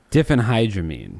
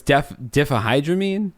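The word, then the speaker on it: diphenhydramine: brought on by the abuse of I can't pronounce that word, but it is DHP different hydramine. Different h different hydramines. Different by the abuse of different hydramines. It's not. It's different. No, it's defahhydramine.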